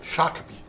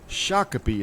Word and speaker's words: Shakopee: That's it's pronounced Shak- Shakopee. Shakopee and that um It's got an Indian heritage.